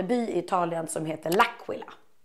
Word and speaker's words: Laquila: Jag uttalar Laquila de tjejerna på som jobbar på det säger Lakila och Jaha man